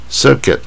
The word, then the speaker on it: circuit: ，不再讲它的意思。Circuit 啊，就是巡回的啊